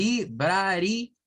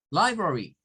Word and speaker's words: library: bra es otra iría es otra y lo pronunciamos de esa manera si usted me Lee esto como le library me está leyendo en español y eso y es verdad está mal porque es light brother y library una biblioteca en donde aparece Entonces el sonido